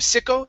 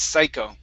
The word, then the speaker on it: psycho: to the word psycho instead of sicko it's psycho psycho very nice all right